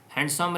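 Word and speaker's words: handsome: है आमर आंसर तापर हैंडसम रे कौटा साइलेंट अच्छी ना हैंडसम आम कहती डी साइलेंट अच्छी तो तापर पैसेज आसला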